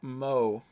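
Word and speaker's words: moe: Pronounced mo.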